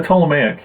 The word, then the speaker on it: Ptolemaic: How do you pronounce that term, though? Ptolemaic? The Ptolemaic, yeah.